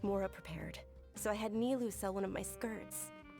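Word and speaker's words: Nilou: Does this friend happen to be Nilu, the one who sends Nilu?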